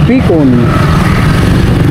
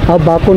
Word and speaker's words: Bacon: Bacon, hindi Bicon, Bacon na po. Bacon. Salamat. Bacon. Bacon pala, hindi Bicon.